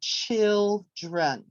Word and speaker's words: children: we said that the stress was on the first syllable so with our hand we would raise the hand for the stressed syllable and then we would lower it for all of the unstressed syllables so when we say children we say children and